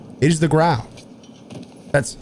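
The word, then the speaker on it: Grau: people call it the graw. It is the growl. That's how the English language works. Why would they call it the graw? Graw would be G-A or G-R-A-W, not G-R-A-U. It's the growl.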